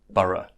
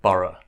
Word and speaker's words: borough: schwa sound oh so it's the same sound as in about about about it's the lazy sound it's the most common sound in English so you'll hear it a lot and that's how you pronounce the O ugh in Sura and burrow so we say Sura and burrow burrow but syrup means complete